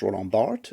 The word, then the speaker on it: Roland Barthes: And then a whole lot of arguments about a character that is pronounced Roland Barthes, no matter what she says, and, blaming the internet, because of course we blame the internet.